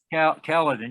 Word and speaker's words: Caledon: tanker and the auxiliary van the is it caledon is that how you pronounce that caledon yeah both of those fire departments were quite